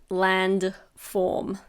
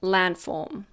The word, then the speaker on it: landform: You might have noticed that I didn't say landform. When we say it naturally, we almost don't pronounce the D. We say landform.